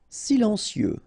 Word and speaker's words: silencieux: e like that psychologique silencieux final x not pronounced radioactif enregistré ok so